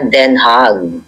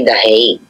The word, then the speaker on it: Den Haag: sa Netherlands, dito sa Den Haag. Yun pala ang tamang bigkas ng kanilang lugar. But in English, ang mga English speakers ay The Hague. Pero ang tama ay Den Haag.